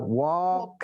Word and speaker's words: walk: Bacanya adalah walk. L-nya dia nggak dibaca.